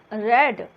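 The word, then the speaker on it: read: अब book is being रेड, spelling वही रहेगी। रीड, रेड, रेड, ये 3 फॉर्म्स है रीड के। स्पेलिंग तीनों में सेम है बट प्रोनाउंसिएशन डिफरेंट हो जाता है।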